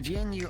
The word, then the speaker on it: GNU: it's his H the gnu operating system is completely free Software System op compatible with Unix G for G is not un it is pronounced as one syllable with a hard G huh oh it's all